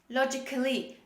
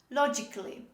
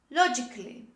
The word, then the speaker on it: logically: the letter a but the letter a is not pronounced when we say these words the first example first